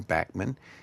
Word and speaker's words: Bachman: was first around with Randy Bachman uh who pronounces his name Bachman and Burton Cummings who's one of my favorite heroes.